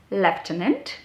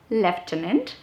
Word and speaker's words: lieutenant: one that i have on the list is lieutenant lieutenant now please do not jump into the exact pronunciations of these words i'm whatever i'm giving